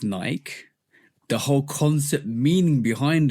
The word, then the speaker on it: Nike: It's named after the Greek goddess of victory, who is named Nike. That's how it's spelled.